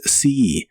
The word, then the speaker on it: see: El verbo ver en el presente de inglés es si. La doble e de este verbo se pronuncia como una i larga o doble y suena como si.